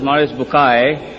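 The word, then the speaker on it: Maurice Bucaille: eminent scientist and a scholar of Quran Dr moris buky pronounced as moris bukai am I right Dr matter okay uh he's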